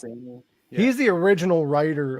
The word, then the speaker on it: Mancini: And it proved that Don Mancini, how do you pronounce his name? Don Mancini? I think it's Mancini.